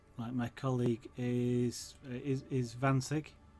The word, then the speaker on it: Wansink: my colleague is Vansig, which I know a lot of people in the UK would pronounce it as Wansink. And he kind of said, how did you know to say that the way I said it, because it, I assume it's close but not quite exactly how it's said over there, and I actually don't know. I mean, the German, of course, the W is a V, and I know that's